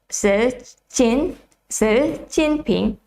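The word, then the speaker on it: Xi Jinping: is correctly as well because this is also a mandarin pronunciation it's a chinese pronunciation so um i hope i pronounced it correctly i will do it one more time the president of the president of people's republic of china is ser jinping okay so that's um how you pronounce it i hope i pronounced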